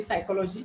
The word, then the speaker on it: psychology: now also, and there are some letters which are silent in English, so we people need to understand that also. Or there is another word, psychology also. So how normally psychology, if it is pronouncing psychology, how is it written?